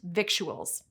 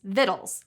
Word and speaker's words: victuals: This word, meaning food or provisions, isn't pronounced victuals. It's victuals, like little, and you can blame some Latin superfans for that.